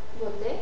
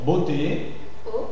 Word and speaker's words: beauté: Beauté. Beauté O moineau moinau.